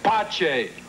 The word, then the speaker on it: Pace: Pace, you said your name was Father Pace. In inglés. In italiano, mi nome si pronuncia Pace.